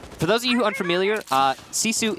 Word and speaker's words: GiFu: those of you unfamiliar Sisu is spelled gif you so that's what we're pronouncing right now you almost got